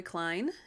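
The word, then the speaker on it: Kline: there is a couple um michael and carrie klein and their last name is spelled k-l-i-n-e michael and carrie klein they've been really important mentors to me as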